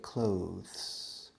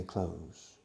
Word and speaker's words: clothes: think most people say clothes which is correct in my part of the woods in Texas we say close we pronounce ropa exactly